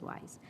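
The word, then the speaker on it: WIIS: call them wise men, because wise is pronounced, Women in International Security in short, is pronounced as wise.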